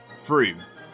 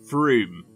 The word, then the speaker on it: Frome: Number 7, Frome.